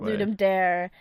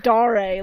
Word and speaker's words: Ludum Dare: pronounced it I'm dying you might pronounce it Ludum dare the thing is back in the day when I pronounced it Ludum dare I got yelled at so I am now bullied and just like da-rae like some sort of latinum absolutely no it's